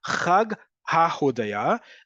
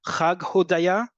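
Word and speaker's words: חג ההודיה: So Chag HaHodaya. The ha, by the way, at the beginning of the word is optional. You'll hear both Chag Hodaya or Chag HaHodaya. Either one is acceptable in modern Hebrew.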